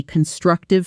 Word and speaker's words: constructive: I want this to be constructive feedback, not just criticism. Again, that's really constructive feedback. Thank you. One more time, notice the stress on the second syllable.